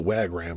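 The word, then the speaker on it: Wagram: last year the label i think that you pronounce the wag ram is how it's pronounced but they started the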